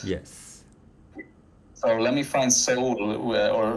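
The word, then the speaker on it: Seoul: Korea I'm correct yes so let me find Soul or how do you say it Soul yeah soul soul okay sorry Soul youe the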